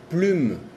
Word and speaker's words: plume: Por ejemplo, plume, plume. Ahí sigue la E no se pronuncia, pero no es la pronunciación de un porque le sigue la vocal E.